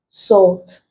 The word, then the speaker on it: salt: the L is silent salt the L is pronounced chalk the early silent